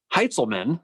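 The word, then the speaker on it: Heintzelman: heiselman's heights oh god he pronounced his name heitzelman try that again his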